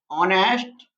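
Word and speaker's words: honest: तो एन ऑनेस्ट मैन, अगर हम देखें तो आप सोचेंगे कि यहाँ तो एच से स्टार्ट हो रही है स्पेलिंग, फिर यहाँ पर एन क्यों आ रहा है। बेशक ये कॉन्सोनेंट्स है, अगर हम इसका प्रोनाउंसिएशन करेंगे तो हम ऐसे लिखेंगे इसको, सॉरी, ऑनेस्ट मैन। तो ये जो आया हमारा साउंड निकल के वो कहाँ आया, किस क्या साउंड आया, आ का साउंड आया।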